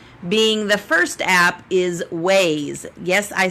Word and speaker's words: Waze: tip number one being the first app is ways yes I said ways it is spelled waa ze so what is ways it